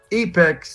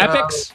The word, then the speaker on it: Epix: Hey, by the way, I've got a documentary coming out on Epix, or is that how you pronounce it? Epix channel? You got it. Epix?